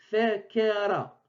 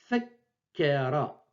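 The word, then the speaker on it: فكّر: Donc, sans cette shadda, sans cette voyelle, je lis fekera, fekera. En sa présence, je lis fekkera, fekkera.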